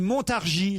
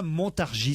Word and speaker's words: Montargis: habite Montargis et d'ailleurs on ne prononce pas le S on dit Montargis Laurent et non pas Montargis soyez on apprend des